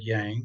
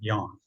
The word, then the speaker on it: Yang: how to use it you might pronounce that word Yang that's fine but a lot of folks pronounce it yawn so the definition of